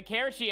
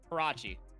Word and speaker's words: Karachi: And the Karachi S&D is gonna be even more interesting, too, because, like, this will actually enable for Orja to get more involved early.